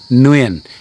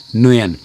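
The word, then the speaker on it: Nguyen: G- U N, then I would suggest at least start by pronouncing it as Nuen. N W I E N. Nuen. That's a very very acceptable compromise. As I say, it's not that far off the way the Southerners um say the name Muen.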